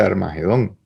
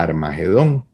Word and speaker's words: Armagedón: que sucede es que eso en hebreo se escribe como hard h aire medido entonces la palabra es arme guido y eso se fue digamos cambiando por como suena a armagedón pero realmente eso se